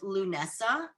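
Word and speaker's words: Lughnasadh: So the season starts at the beginning of August with Lunessa, which is spelled Lugnazad.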